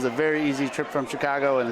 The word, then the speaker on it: Chicagoan: I do know of one Chicagoan, is that how you say it? Chicagoan, yeah.